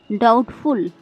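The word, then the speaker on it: doubtful: DUBTFUL, डाउटफुल। डाउटफुल में भी बी के बाद टी आ रहा है, इसलिए यहाँ पे बी साइलेंट है।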